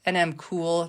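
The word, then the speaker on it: NM CEWL: It's NMCOOL, it's spelled CEWL.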